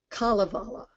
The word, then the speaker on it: Kalevala: In Finnish, the major emphasis is always on the first syllable of the word. So it's always Kullervo, Kalevala, Kullervo, Untamo. All of them hit that first syllable.